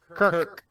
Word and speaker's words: Kirk: are you saying Kurt or Kirk? Kirk.